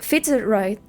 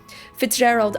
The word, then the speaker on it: Fitzgerald: And then Okay, Fitzgerald. thank you. Soft G. Okay. To improve my narrative structure, right? Like how Hemingway, Wolf, and Fitzgerald.